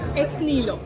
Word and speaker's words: Ex Nihilo: This is what it is, and please tell us how exactly do you pronounce this brand? Ex Nihilo.